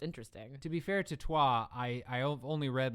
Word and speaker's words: Troyes: cathedral actual city it's in france and actually pronounced trois yeah okay all right there you go all